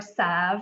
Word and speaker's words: salve: solve we're specifically using the salve or sav i've also heard that pronunciation for dry skin and